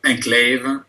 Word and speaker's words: enclave: it's a small Enclave so look at his this is his long syllable right his this is his short syllable this is his long syllable Enclave enclave and then of course he has a V at the end which is a typical pronunciation in French is to have a little schah Enclave um and this